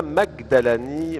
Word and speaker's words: Majdalani: Et avec nous également à vos côtés, Majdalani, mais en Égypte, le je se prononce ge.